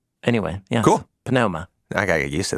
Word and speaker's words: pneuma: And the one thing that is certain was that there was no silent P at the beginning of words. It was pronounced. Anyway, yeah. Cool. Pneuma.